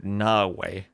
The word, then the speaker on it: Nawe: So Nawe. Emphasis on the A.